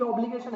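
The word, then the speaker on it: obligor: एक एक पैसा इसको देना ना, तो जिसके अगेंस्ट में वो राइट है, क्योंकि इसकी ऑब्लिगेशन है, इसके बोलते हैं ऑब्लिगो। लिखा ऑब्लिगर है लेकिन प्रोनाउंसिएशन होता है ऑब्लिगो।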